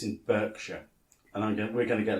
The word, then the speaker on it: Berkshire: It's Berkshire. Yeah. Reading. Berkshire. See, Berkshire should Reading Berkshire. Berkshire should ideally be spelled B-A-R-K because of dog bark.